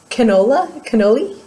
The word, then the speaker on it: Cannelle: It's cannoli, but it's not spelled like cannoli like the dessert.